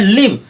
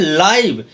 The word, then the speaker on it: live: तो देखिए पहला में LIVE इसका प्रोनाउंसिएशन हो रहा है लिव, जिसका मतलब होता है रहना, और दूसरे वाले का हो रहा है लाइव, मीनिंग वही है, सॉरी स्पेलिंग वही है लेकिन प्रोनाउंसिएशन हो रहा है लाइव, और लाइव का मतलब होता है जिंदा या सजीव, और मीनिंग डिफरेंट, और